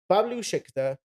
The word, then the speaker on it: Bablu Shikdar: so Bablu Shikdar, am I pronouncing that Yeah, right?